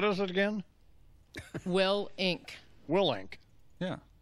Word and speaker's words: Willink: Willink. Willink. That's right. Did I pronounce it right?